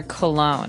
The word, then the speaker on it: cologne: So women wear perfume, like you said, but men wear cologne. And this word is very funny looking. It ends with, it's spelled C-O-L-O-G-N-E. So you don't really say the G. It's not cologne.